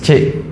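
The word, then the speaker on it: Trinh: And my surname is Chi. How do you spell it?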